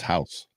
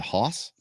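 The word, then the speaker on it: Haus: have to spell it it's house capital h-a-u-s not h-o-u-s-e h-a-u-s it's german it's house haas is it hoss no it's got to be house it's how they they pronounce the house i know they pronounce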